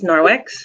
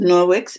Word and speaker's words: Norwex: Okay, and so the name of the company Is Norwex? is Norwix, and I see it here in the chat from Robin, and it's spelled Nor.